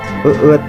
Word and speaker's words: eet: Nih, ini dibacanya kalau Sunda itu bahasanya eet ya pemirsa ya, eu t. Jadi dibacanya ini bahasa Sunda itu eet ya, eet.